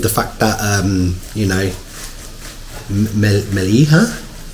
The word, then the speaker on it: Mellieħa: fact that you know, Mellieha. Yes, I think the lady said the iron together makes an A sound. So Mellieha.